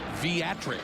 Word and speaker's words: Viatric: But it's Viatric, pronounced with a V.